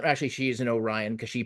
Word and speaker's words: Orion: engineered golden retriever uh the creation of uh oron actually she's an Orion because she pronounces it correctly uh tendy um who didn't